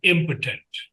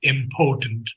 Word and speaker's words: impotent: Now we have the word impotent and many people pronounce it important but it is impotent means powerless.